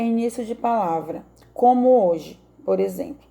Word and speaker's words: hoje: A palavra hoje, ela deriva da forma latina hoc dai e, por isso, o H é mantido, embora ele não seja pronunciado.